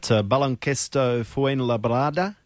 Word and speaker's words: Baloncesto Fuenlabrada: So you headed away and signed, and I'm not sure how to pronounce it, Kirk, but Baloncesto Fuenlabrada. Is that pretty close? That's pretty good.